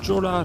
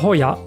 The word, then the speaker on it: Jolla: À la Jola Resort. Ou la Yola. En fait, on dit Hoya, et Hoya, ça signifie joyau en espagnol.